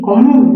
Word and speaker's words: común: Comúnmente, común, ¿dónde tiene el acento? En la sílaba mu, ¿ya?